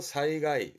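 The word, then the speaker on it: 災害: 발음은 히가이, 히가이. 아주 많이 보는 피해의 히가이. 제자입니다. 재해가 되겠네요. 사이가이, 사이가이.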